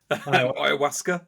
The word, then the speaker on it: Ayahuasca: I mean, well, so what were your actually, for any listeners that haven't heard of, I can't even pronounce it. Ayahuasca, is that correct?